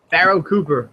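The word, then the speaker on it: Pharoh Cooper: Farrell Cooper? Pharaoh Cooper.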